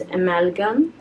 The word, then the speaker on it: amalgam: do you pronounce it it's like an amalgamation it's from that word amalgamation so it's amalgam I guess by ashara